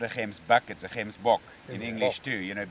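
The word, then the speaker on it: gemsbok: this uh hemsbach i keep trying one called gimsbok but you call them hemsbot yeah they pronounce very much identical to what you pronounce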